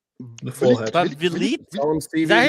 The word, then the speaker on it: Vliet: Vliet. The forehead. Vliet? Is that how you pronounce that?